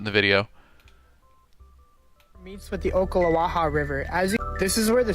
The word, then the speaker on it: Ocklawaha: He's pronouncing that weird though. Is it not Ocklawaha? That's how I grew up pronouncing it, but I could be wrong.